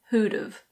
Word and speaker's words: who'd've: And now we have who would have, which becomes who'd've.